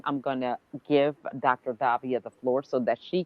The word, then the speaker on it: Davia: Davia. Am I pronouncing your first name right?